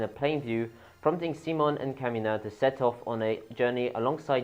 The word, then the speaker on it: Simon: is so we have C Mon and that's how they pronounce it in the anime C Mon I don't know why it's not just Simon but yes there you see